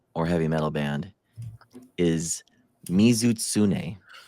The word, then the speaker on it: Mizutsune: Our first one we got Dan in Monster Hunter or heavy metal band is Mizutsune. Mizutsune. Mhm. Can you spell that?